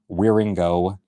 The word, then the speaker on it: Wieringo: that's how you spell the last name, Wieringo. Yes, Weir mixed with Ringo.